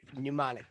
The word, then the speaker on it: pneumonic: they do have the pneumonic plague uh listed wow it starts with a P it's PP pneumonic the p is silent so using math we'll